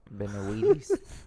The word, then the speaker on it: Benavides: So you have Benavides. Yeah. So Yeah. Benavides. David Benavides. Right? Benavides. Benavides. Benavides. All right, my bad. Cabron. Benavides. Benavides. I got one name wrong.